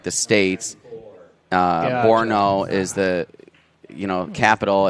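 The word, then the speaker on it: Brno: are watching game from berno or Borno rather I believe is the pronunciation uh 12:48 a.m.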